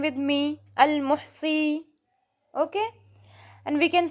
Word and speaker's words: al-Muhsi: अल-मुहसी, pronounce this name with me, al-muhsi, okay?